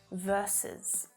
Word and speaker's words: versus: this one is the abbreviation of the word versus versus that second syllable is unstressed okay versus so when you see this and you want to say it in spoken english you always say the complete word you never say vs